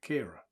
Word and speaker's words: Kyra: Kira, isn't it? Kira. Spelt Kyra, pronounced Kira.